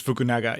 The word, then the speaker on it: Fukunaga: now so Julio you got a shot at pronouncing the director's name here Corey Joi fukunaga I think it's fukunaga yeah we're gonna call him Carrie as he